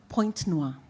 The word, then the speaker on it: Pointe-Noire: Pointe-Noire. Yeah, in Pointe-Noire, okay?